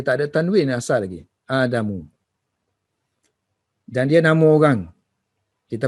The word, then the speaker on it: آدم: So kalau proper name, kalau dia tu kalimah ni yang bukan originally Arab, kita panggil ajam lah. So dia tak boleh ada tanwin. So bacanya Adamu tu.